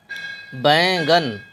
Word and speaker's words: بینگن: نون زبر گن، بینگن۔ اس کو بھی ہم یہاں ساکن نہیں پڑھیں گے، نون غنہ بولیں گے، بے یا زبر بائے نون غنہ گاف نون زبر گن، بینگن۔ کانٹا، کاف الف زبر